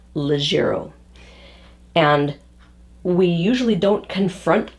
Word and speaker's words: leggiero: to practice it and work on it so legero spelled l-e-g-g i-e-r-o legero the the word the pronunciation describes exactly what it is it's a